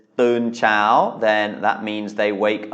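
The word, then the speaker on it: เช้า: as I keep saying, tone marks can't be trusted. This is a long vowel, it's a live syllable, and it has mai to, but with low class consonants, mai to makes a high tone. So this is Chao. It is not Chao, as you might expect from what you've learned about mai to.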